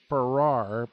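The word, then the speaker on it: Pfarrer: I think he pronounced his last name Farrar, P.F.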